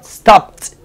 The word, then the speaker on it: stopped: Recuerden, no es una sílaba extra, es la misma sílaba. Stop, stopped.